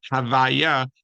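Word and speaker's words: הוי״ה: Since this name is too sacred to pronounce, it is denoted by saying the word in inverse, which is Havaya.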